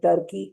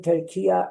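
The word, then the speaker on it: Türkiye: In these days, saying Turkey is a wrong pronunciation. Saying Turkiya is the right pronunciation.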